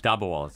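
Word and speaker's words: dabbawalas: Talk to our audience about, how do they pronounce them? Dabwalas? Dabwalas, yeah.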